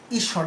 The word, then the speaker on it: ঈশ্বর: যেমন উদাহরণ হিসেবে আমরা দেখাতে পারি, ঈশ্বর। উচ্চারণটা কি? ঈশ্বর। দেখো তালব্য স এর সঙ্গে যুক্ত আছে কিন্তু ব, কিন্তু এটা ঈশ্বর হচ্ছে না, উচ্চারণটা কি হচ্ছে? ঈশ্বর। তাহলে কি দাঁড়ালো? এটা দীর্ঘ ঈর উচ্চারণ হচ্ছে না, ঈশ্বর। দেখো ঈশ্বর উচ্চারণ।